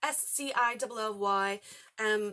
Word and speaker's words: Scilly: This takes place on the, I'm going to say it wrong, Scilly Islands? Scilly.